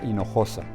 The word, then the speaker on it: Hinojosa: of them I I like how Maria pronounces her name it is Maria in Noosa from Mexico City just like me and when she pronounces her name she's telling us where she's coming from that she's an immigrant